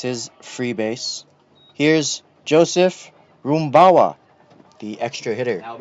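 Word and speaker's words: Rumbao: Here's Joseph Roomawa. The extra hitter. Now batting extra hitter number five, Joseph Rooma. So that is spelled R U M B AO, but he did emphasize his pronunciation was Roomawa.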